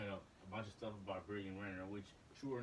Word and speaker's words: Brittany Renner: Brittany Renner.